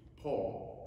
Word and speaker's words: pall: it's a hard cardboard square the pole is pronounced P Paul and the spell PA you know the funeral Paul it goes over the casket over the body the pall over the body the Corporal ooh the purification